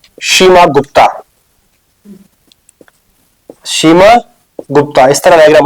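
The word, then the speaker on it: क्षेमगुप्त: के साइलेंट रहता है, शीमा गुप्ता।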